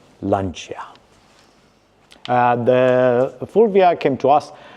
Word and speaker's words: Lancia: In English, if you are to read it as it is, you'll maybe pronounce it Lancia, which in the classic Italian circles is frowned upon. Therefore, Lancia.